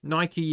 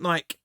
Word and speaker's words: Nike: Before anybody gets on my back, Nike is the correct pronunciation of it, because it's named after the Roman god of sport, which was Nike. So it's not Nike.